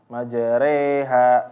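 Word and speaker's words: مجريها: Majreha, reha, reha. Jadi jangan membacanya dengan tafkhim. Reha. Salah.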